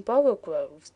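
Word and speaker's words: borogoves: the first o in borrow Groves is pronounced like the O in borrow so I have heard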